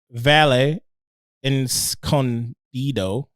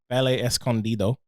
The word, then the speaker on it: Valle Escondido: organic it is from the vale in condito sorry ballet escondido uh he gave us the phonetic pronunciation as well with a guy he